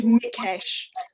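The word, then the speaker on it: Mikes: the pronunciation is george mikkesh which is the hungarian pronunciation judy always says to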